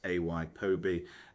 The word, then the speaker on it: ApoB: Pronunciation note. ApoB equal sign pronounced ay-po-bee.